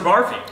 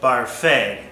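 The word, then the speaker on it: Barfée: Barfy? Well, Mr. Barfy has a sea anemone circus in his basement. His other hobbies include Dungeons and Dragons and braiding his mother's back hair. It's pronounced Barfay.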